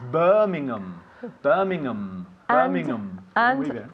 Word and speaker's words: Birmingham: No decimos Birmingham, it's Birmingham.